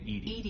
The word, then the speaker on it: EDI: why are you named ed is the phonetic pronunciation of edi that is an acronym